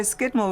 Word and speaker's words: Scudamore: sort of american adaption no skidmore was the original pronunciation and over the years i suppose i called people there um the way they formed their letters changed and so skidmore became scudamore but originally when they